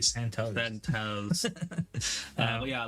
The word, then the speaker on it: Santos: No, it's toes like feet. Santos.